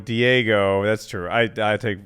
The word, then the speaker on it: Diego: than miffed oh and called code cold fusions deogo Diego that's true I I take responsibility for that